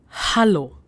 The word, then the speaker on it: Hallo: Hallo. Now, hallo is hello. While pronouncing this greeting, you have to make sure that you're pronouncing A as A, because in German, A is A. So it's hallo.